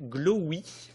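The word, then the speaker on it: Glowee: Et par exemple, vous avez une entreprise française qui s'appelle Glowy. J'essaie de bien le prononcer parce qu'en français, il peut y avoir une mécompréhension un peu gênante. Glowy, G-L-O-W 1 ou 2 E, ou peut-être même 3.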